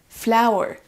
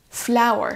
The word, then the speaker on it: flower: ça c'est l'alphabet phonétique il faudra accentuer sur la première syllabe flower flower iations my flou une